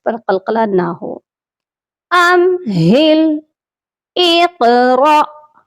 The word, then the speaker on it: اقرأ: قلقلہ نہ ہو۔ امہل، اقرأ، یہاں پر را کے ساتھ حمزہ ہے، الف نہیں ہے، اسی لیے یہاں پر جھٹکا دے کر پڑھا جائے گا۔ ایک بار اس کے